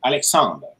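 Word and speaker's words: Alexandre: So you merge the A and D, and you say the R really close to not audible. Alexander. That's the good way to do it, because the last E at the end generally in French is not pronounced.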